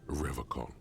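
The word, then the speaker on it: Revachol: I thought it was Revishol. He pronounces Revacol with a hard K.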